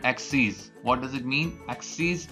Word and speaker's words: axes: Axes is the plural of axis, and we spell them the same, but we pronounce it axes so that we can separate both of them.